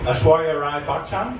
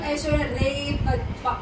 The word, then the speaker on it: Aishwarya Rai Bachchan: So have you learned how to pronounce Aishwarya Rai Bachchan now? Oh. Aishwarya Rai Bachchan? Yeah. Am I saying that correctly? Yeah. It's because you just said it though. It's not Aishwarya Rai Bachchan.